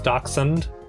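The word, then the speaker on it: dachshund: I'm I'm like the I'm over pronouncing the shush the sh so it's dund not do shund or dashound wait Dash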